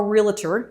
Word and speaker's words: realtor: Doctor, how many syllables is it? Doctor. Two. Realtor. realtor. Two, okay, two syllables.